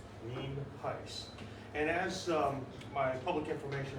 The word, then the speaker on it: Nienhuis: It's spelled Nienhuis, and it's pronounced Nienhuis.